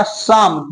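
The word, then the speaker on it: psalm: इसे क्या पड़ता है पस लम लेकिन इसका रियल पशन क्या होगा समम देखिए यहां पर ना पी भी साइलेंट है आप मेरे पहले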